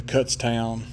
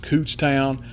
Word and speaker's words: Kutztown: Um, I go, if y'all watch any kind of antique radio restoration, you probably know about the Cutstown. That's supposed to be pronounced Cootstown, but I call it Cutstown.